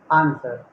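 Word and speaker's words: answer: आप लोग इसे आंसर आंसर बोलते हैं ना, आंसर, नो, आंसर। एक वाक्य मात्रा ऊपर डॉट है, आंसर, तो इसको प्रोनाउंस करना है आंसर।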